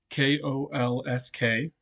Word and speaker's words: Kolsk: the kolsk so first off kolsk is spelled k-o-l-s-k it's pronounced kolsk or coal the way I put